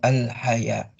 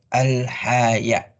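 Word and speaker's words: الحياء: Akan melahirkan al-haya. Al-haya, ya, bukan al-haya. Pakai hamzah ya, bukan ha atau ha, tapi hamzah.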